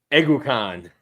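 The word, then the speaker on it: Kingsley Eguakun: wasn't years of mispronunciations like it was with Kingsley aacan ukan Kingsley ukan um literally we asked princ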